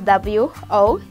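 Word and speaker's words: wotha: Okay, then our next word is water. Kuota, kuota moto. So kuota is spelled as W-O-T-H-A.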